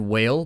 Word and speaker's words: whale: said whale but you you didn't say whale like she wanted you to make the h sound in front and i realized that's like the proper way to say it but like regionally nobody here says that you say whale or